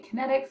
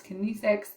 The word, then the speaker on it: kinesics: can never say this kinesics um i always want to try to say kinetics but it's kinesics um thank you google